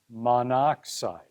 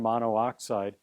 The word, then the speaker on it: monoxide: those vowels out and then we pronounce it monoxide right we don't say carbon mono oxide right we say carbon monoxide we just get rid